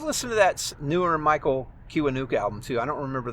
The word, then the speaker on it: Kiwanuka: If you've never heard Mi- Michael Kiwanuka, and it's spelled exactly how it sounds, k i w a n u k a.